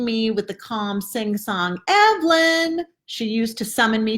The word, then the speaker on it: Evelyn: with the calm sing-song, "Evelyn!" She used to summon me to supper every night, the first syllable accented and extended before dropping into a short, lower-toned chirrup at the end, a secret call between hen and chick.